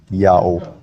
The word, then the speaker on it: IAHO: Now the Latin letter H at the time of Jerome is an H sound if it's the first letter of a word, but if it's not, it's a silent letter. And Latin adopted that rule from ancient Hebrew, so IAHO is read clearly as Yao.